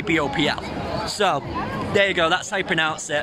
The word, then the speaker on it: BOWPL: Well, it's a silent W. It technically should be Baupel.